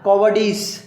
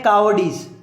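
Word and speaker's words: cowardice: या कॉवर्डिस, कॉवर्ड word सुना ना, कावर्ड, जिसको कावर्ड बोलते हैं, सॉरी इसकी प्रोनाउंसिएशन है कावर्डिस, कॉवर्डिस नहीं है, कावर्डिस, कावर्ड बोलते हैं उसको, कावर्ड, डरपोक, ठीक है।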